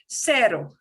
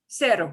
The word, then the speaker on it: cero: Here's a soft sound for C, the S sound, like in English S, and it's only if it's CE or CI, then it'll sound like a S. Yay, that's not too bad. It'll sound like S.